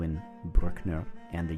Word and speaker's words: Brückner: Today is episode 19 with Oskar Brückner.